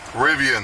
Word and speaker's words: Rivian: Rivian.